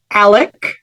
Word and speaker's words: Alex: audio on the series he pronounces his name Alec as opposed to Alex and the last name